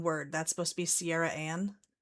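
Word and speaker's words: Ciarriane: Sierra Anne. Is that what it's supposed to be? Yeah. Yeah. Sippy pronouncing that name.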